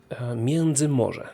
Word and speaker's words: Międzymorze: Międzymorze, that's how we pronounce that.